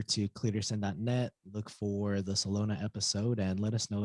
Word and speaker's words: Celona: They would just think of Barcelona and just the last part, Celona.